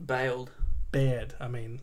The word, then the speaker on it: Baird: So, Mike Baird resigned today. Nice. I said that wrong. How do you actually say it? I always say it wrong. Bailed. Baird.